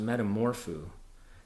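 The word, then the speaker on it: μεταμορφόω: that text is a Greek word and it's pronounced Metamorpho this Greek word appears in the New Testament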